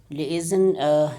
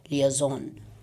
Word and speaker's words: liaison: Liaison is a pronunciation in British English, and in American English we pronounce it liaison.